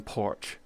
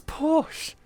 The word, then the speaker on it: Porsche: called Porsche Get Wrecked that's still better than porch it's Porsche it's called a Porsche 911 or a Porsche Boxer it's not called a porser Americans call it Porsches cuz they have to pronounce every letter call it a porch now made a new